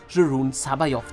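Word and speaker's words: Joruus C'baoth: Ja, ich spreche ihn so aus, denn wenn die Stimme des großen Luke Skywalkers dir das als Kind gesagt hat, dass er so ausgesprochen wird, dann wird er auch so gesprochen.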